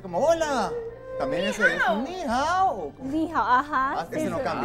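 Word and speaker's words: 你好: ¿Y cómo se pronuncia? Ni hao.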